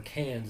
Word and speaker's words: Cairns: Which was in Cairns, or Cairns is how they say it in Australia.